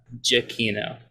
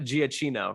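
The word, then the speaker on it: Giacchino: wait we have to how do we pronounce that again just uh for the people michael jacquino that's you can look on his twitter it's on his twitter it's japanese not not giacino right not giachino not that it matters it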